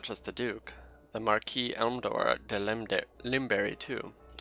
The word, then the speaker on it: marquise: it's Britain versus France we're going to pronounce at the French version you can go Marquess it's acceptable it's perfectly allowed but I'm going to go with the French for marquise marquise Lim berry - that's